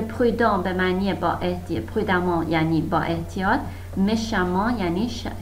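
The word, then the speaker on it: prudemment: که دقت کنید این توی تلفظ ا ما خونده میشه. مثلا پرودان پرودامان، نمیگید پرودمان، میگید پرودامان. خب، و اگر که با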